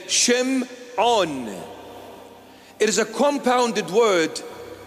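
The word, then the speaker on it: שמעון: Aramaic syak text is Shimon that's the proper pronunciation of the name Shimon it is a compounded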